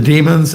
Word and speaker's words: demon: It says here the demons and the demigods. The demigods are fully aware of the supreme lord's position and therefor they are obedient to him. But but Demon rhymes with Steven.